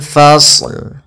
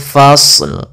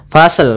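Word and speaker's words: الفَصْل: Nah, kemudian dalam lafal ini kita sempurnakan dulu huruf shadnya yaitu kita fa ketemu dengan shad. Shadnya tebal fasl fasl fasl ya. Kemudian baru dimatikan lamnya. Tapi hati-hati jangan memantulkan sadnya fasl. Misalkan fasel fasel gitu ya. Jangan pantulan sadnya hati-hati tapi tetap dia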